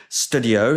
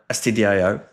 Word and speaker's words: stdio: The first of them, which is by far the most common, is called Studio, spelled like that, which stands for Standard Input Output. I think some people call it STDIO, but I call it Studio.